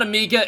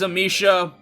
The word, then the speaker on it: Amicia: I always butcher the pronunciation of Amicia, by the way. It's not Amika, it is Amicia.